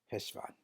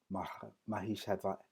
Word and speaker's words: Heshvan: Different variations can be Mahishvan, Heshvan, Mahishvan. But for the sake of the complexities, we will simply say right now, Heshvan. Heshvan. Just like it's spelled right there on the screen, Hesh, and put a V-A-H for the phonetical spelling, Heshvan.